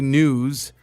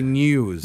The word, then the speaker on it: news: Like a lot of people say news and you're supposed to say news. News EW. But it's funny.